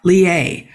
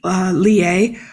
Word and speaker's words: Lillet: Then there is the aperitif called, I'm going to massacre the pronunciation, Lillet.